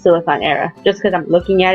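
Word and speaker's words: Siliconera: now actually yes the website is pronounced silicon era just cuz I'm looking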